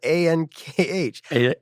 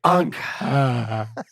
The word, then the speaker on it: Ankh: It's spelled A-N-K-H. Ankh.